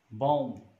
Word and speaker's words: bomb: Ba sound at the end of the word, when it comes after ma sound, m sound, this is phonological rule that this sound is not pronounced. And then come, bomb, not bomb, not comb. So the third word that